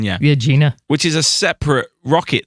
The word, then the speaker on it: Agena: that the right pronunciation? Yeah. Agena.